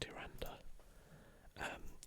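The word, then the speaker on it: Tyrande: Actually, before we do, I'll just explain who Tryande, so it's apparently pronounced Tryande, is.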